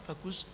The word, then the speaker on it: Bagus: Bukan Bagus, karena Bagus susah pronounce-nya ya. It's a ba and a goose, doesn't sound nice.